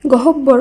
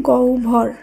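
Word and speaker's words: গহ্বর: ও where করা হয়েছে একইভাবে গহব্বর নয় শব্দটির শুদ্ধ উচ্চারণ হবে গৌ ভর এখন এই শব্দ দুটি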